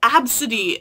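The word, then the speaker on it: Abcde: the news because she named her daughter A-B-C-D-E and then someone made fun of her and then their defense was like, it's pronounced Absidy, as if that's supposed to be some defense.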